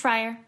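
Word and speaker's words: Frier: Sarah, is your last name pronounced Fryer?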